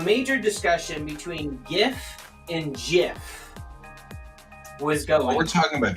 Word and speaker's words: GIF: record to state that it is not pronounced gift it is pronounced Jif and people still and